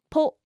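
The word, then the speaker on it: ぽ: ho bo ho bo And with a handakuten, it will be po.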